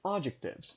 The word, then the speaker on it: adjectives: Quanto à palavra adjective, possessive adjectives, no plural, essa palavra atônica é a primeira sílaba, então eu pronuncio adjectives e não adjectives or adjectives, ou algo assim, certo?